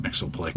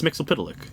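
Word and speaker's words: Mxyzptlk: I am just, after all these years, okay with Mixoplick. Right. And then I heard somebody pronounce it differently, and I'm like, I will punch you in the face.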